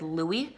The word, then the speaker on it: Louis: have said Louis, like he would have known his actual name. But the fact that this guy didn't even know how to pronounce Louis's name is just proof that he doesn't know this fandom, he doesn't really know the boys, so he probably just read Louis's name and just said Lewis.